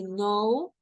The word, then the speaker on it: know: For example, here, when we have the K and the N, the K doesn't have a sound, okay? So we just say no and new, okay?